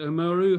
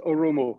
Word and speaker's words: Oromo: flag of the region is it umuru how do you say the um the region there it is oromo yes it is oromo they